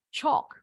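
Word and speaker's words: chalk: digunakan untuk menulis di papan tulis yang hitam cok bacanya nah tambahan sedikit truk ini termasuk uncountable noun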